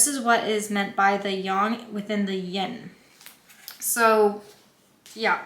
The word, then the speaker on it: Yang: I'm pretty sure and not Yang a lot of people say Yang but I'm pretty positive it's young so if you keep